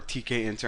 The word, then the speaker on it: tkinter: But sometimes whenever you're using like other libraries, like Kinter uses this a lot, or tkinter, I know that's how you pronounce it, but you're going to come across code like this.